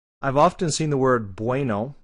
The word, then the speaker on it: bueno: The problem is the pronunciation is exactly the same. It's bueno. It's kind of a BV for both.